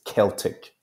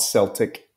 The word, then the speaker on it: Celtic: Scotland was home to Celtic tribes okay now the pronunciation there is Celtic tribes not Celtic Celtic tribes these early